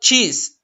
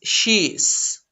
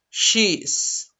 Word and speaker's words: she's: this is he she's it's not cheese no it's she's she's this is it it's